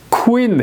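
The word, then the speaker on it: queen: 이게 유도이나 마찬가지인 거예요 쿠인 해야지 퀸이 아닌 거예요 퀸이 아니고 퀸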